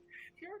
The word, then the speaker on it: fjord: Fjord horses. Yes. Right. Fjord. That's how the word is actually pronounced, not Fjord. like the character name.